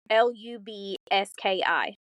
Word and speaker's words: Golubski: Let me tell you, I had to watch news clippings to figure out how to pronounce his name. Yeah, because it's Golubski.